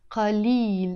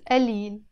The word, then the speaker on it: قليل: قليل in standard Arabic pronounced. But in Lebanese Arabic, we pronounce it قليل.